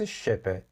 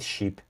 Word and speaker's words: ship: خب was going with his father's ship بچه‌ها این تلفظ شپه، نگید شیپ. شیپ میشه گوسفند خب، اما شپ میشه کشتی شپ.